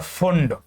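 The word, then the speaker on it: Pfund: Hydrogen spectrum को बताने के लिए जो साइंटिस्ट आए उनका नाम था लाइमन, बाल्मर, पास्चन, ब्रैकेट और फुंड। P silent.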